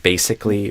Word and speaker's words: basically: Even a word like basically or greasy, there can be variation in how Americans say it, but I usually recommend doing it with the S sound.